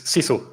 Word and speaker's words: sisu: I think I pronounced that. It's sisu.